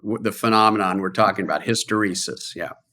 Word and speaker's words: hysteresis: I've never heard it said out loud, which is hysteresis. Yes. Which sounds like hysterical.